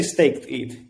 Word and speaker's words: stETH: I just say staked ETH.